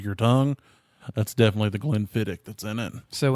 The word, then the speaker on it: Glenfiddich: tongue that's definitely the glenfiddich that's in it so when i've pronounced it glenn fittich i've been wrong for a very long time yes that sucks that's